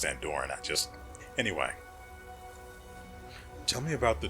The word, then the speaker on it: Andoran: I know it's pronounced Andoran, Anyway.